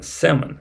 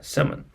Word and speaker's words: salmon: not salmon but salmon the L is silent here and finally cloes Peg